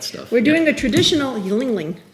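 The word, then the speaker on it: Yuengling: Yingling, or as it looks like it's spelled Yingling, but it's Yingling.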